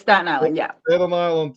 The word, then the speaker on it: Staten Island: Long Island I think actually St St it's Staten Island yeah Stan island statan island that's the proper pronunciation Staten Island yeah statan Island so uh